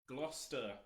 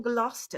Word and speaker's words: Gloucester: Glouester. Glouester. Thank you for coming in from Gloucester.